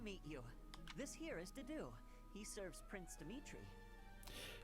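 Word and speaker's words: Dedue: This here is Dedu. He serves Prince Dimitri. It's a difficult name when you look at it, but it's just Dedu. Easy, right?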